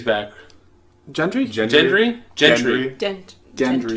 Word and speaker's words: Gendry: Gendry's back. Gentry? Gendry? Gentry. Dent. Gendry. Gendry.